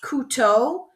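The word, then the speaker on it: couteau: on how to pronounce this one so it's pronounced K to so if you say C like you C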